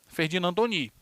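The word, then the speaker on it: Ferdinand Tönnies: escreve assim tá ó Ferdinand Tony s mas se pronuncia ferdinandoni e o georg simmel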